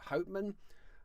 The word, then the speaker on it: Hopeman: He's from a place called Hopeman, but I think he pronounces it Hman.